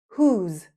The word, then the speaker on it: who's: Whose? Whose? Yep, the same pronunciation as whose. Whose? Whose sounds the same.